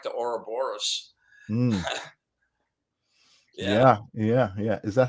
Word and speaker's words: Ouroboros: Yeah, it's kind of like the Ouroboros. Yeah. Is that how you pronounce that? I was. Yeah, Ouroboros.